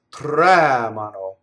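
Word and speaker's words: tremano: case they tremble right they always has the accent in an in the on the first syllable raise the anti penultimate syllable the normal stress in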